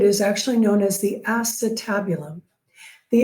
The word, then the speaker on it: acetabulum: the hip socket is actually known as the acetabulum. The acetabulum, that's how you pronounce it, but remember, you're not being graded on how you pronounce things. So my TAs will often deliberately pronounce this the acetabulum, just so that you can remember to spell